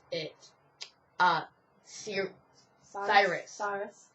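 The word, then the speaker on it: Sirius: pronounce it uh sir Cyrus Cyrus we know it's serus but we just prefer Cyrus because yes not Stak but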